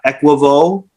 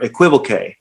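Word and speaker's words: equivoque: technique called uh uh equivo or equivalque you'll hear it pronounced both ways and it means psychologically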